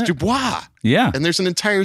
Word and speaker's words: DuBois: Bellefonte no they pronounce that wrong and they pronounce droop Dubois it's Dubois yeah and there's an entire city of people